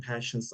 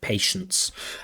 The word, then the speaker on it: patience: Of course, we do have a misprononunciation of pass of patience where the candidate is pronouncing it more like passions which that does cause strain because it's you know he's pronouncing a different word passion passions instead of patience.